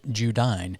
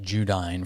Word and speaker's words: Judine: the ferry the boat judine now we pronounced it judy for the week uh it's spelt j-u-d-i-n-e